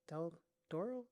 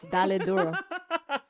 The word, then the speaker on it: Dale Duro: Am I pronouncing it wrong? Is it Del Toro? Dale Doro. Dale duro.